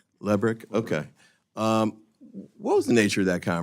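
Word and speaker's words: Lebryk: And I believe you were approached by the highest ranking career official at Treasury, David Lebrick. Am I pronouncing his name correctly? I believe it's Lubrick. Lebrick?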